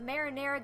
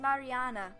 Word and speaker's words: Mariana: and the death of marinara Garcia whoops sorry my American flipped out there for a second it's pronounced Mariana or Mari for shorts things really start to